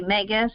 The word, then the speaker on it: Megas: Megas, pronounced Megas, and it shows here all the explanations.